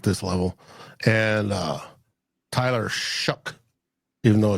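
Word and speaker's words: Shough: level and uh Tyler shuck even though it's spelled sha or s h o u g h it's pronounced shuck what about uh milro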